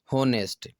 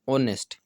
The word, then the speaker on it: honest: इसका अधिकतर विद्यार्थी उच्चारण करते हैं होनेस्ट, बल्कि ये होनेस्ट नहीं होता, इसका शुद्ध उच्चारण होता है जो आपको यहाँ दिया गया है, ऑनेस्ट।